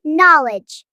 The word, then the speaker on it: knowledge: Knowledge. It's pronounced knowledge. The K is silent.